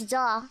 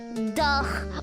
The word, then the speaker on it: dough: And yes, I remember how to pronounce dough. It's not duh or duff, it's dough.